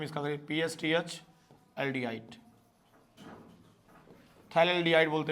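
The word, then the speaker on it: phthalaldehyde: थैलेडिहाइड बोलते हैं इसको। थैलडीहाइड हैं। तो थैल्डिहाइड में पीए आपका साइलेंट रहेगा।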